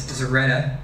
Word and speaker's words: Zorchetta: You can either spell it or you can pronounce it, and Professor Carlson is excellent spelling my last name, but it's Zoretta. The C is completely silent.